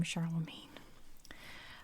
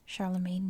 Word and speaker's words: Charlemagne: to 814 charlemagne and i know his name is pronounced charlemagne i know how to say his name properly but i use american english pronunciations and here we call him charlemagne i guess it's like champagne right anyway charlemagne the grandson